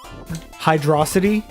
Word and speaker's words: Hydrocity: I think throughout most of my life, I've called it Hydrocity.